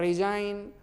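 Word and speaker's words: resign: इन्हें डिजाइन और गन, डिजाइन गन, गन गन गन नहीं, डिजाइन और रिजाइन, साइन, देख रहे हो ना, नेट, रैन, ये सारे शब्द हैं। इस तरह से उच्चारण करेंगे, स्क्रीनशॉट ले रहे होंगे शायद।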